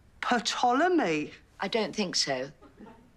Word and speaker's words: Ptolemy: It's called Ptolemy. I don't think so. Says it right there. It's as plain as the lines on your face. The P is silent, as in psychopath, Sharon.